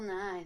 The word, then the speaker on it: Nighy: Oh, and by the way, how do you say Bill Nighy? Nighy? Nighy? Just Nye. Like the science guy. Oh, Bill Nye? Yeah. That's how you say his name, really? The British one? Yeah. Yeah, it's Bill Nye.